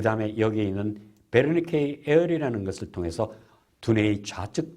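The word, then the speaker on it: Wernicke: 베르니케. W로 써있지만 이건 독일어식으로 발음하니까 베르니케입니다. 베르니케라는 이분은 바로 이 부분 좌측 두뇌 아까는 여기 앞에 브로카는 앞쪽에 있는데 뒷부분에 이상이 있는 환자들을 분석하게 됐습니다.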